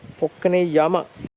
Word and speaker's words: Pokkane Jama: This is spelled as Pokkane Jama, though pronunciation is with a Y, Pokkane Yama.